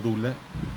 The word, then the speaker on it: doula: También queda en el canal de YouTube a posteriori, también lo montamos, que también se llama Elvis Canino Doula, se pronuncia Dula.